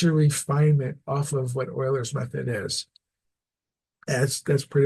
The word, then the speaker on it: Euler's: the idea is going always going back to Oilers method and that's how you pronounce his name so you know that's good